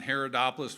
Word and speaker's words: Haridopolos: But first, please join me in welcoming Congressman Haridopolos to the stage. Thanks, Ted. You bet. Thanks, Congressman. Thanks. Yeah, when I when they pronounce my name, they're like, "Haridopolos?" I said, "No, Haridopolos."